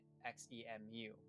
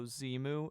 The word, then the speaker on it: xemu: How they managed to trap Interloper in XEMU, as they say. Seeing as he pronounced it like that, I'm guessing he doesn't know Zemu is the Xbox emulator.